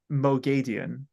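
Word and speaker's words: Moghedien: two finale yesterday and what lere says is madian she says it kind of madian yeah kind of like that so it it is kind of in the middle of all these pronunciations yeah so kind of like uh like Mo gay like G GE ghe is the way I've seen it like broken down madian so we'll hear a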